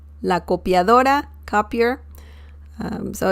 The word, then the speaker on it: copiadora: in spanish you say this like this la copiadora la copiadora la copiadora copier so it's very very easy to say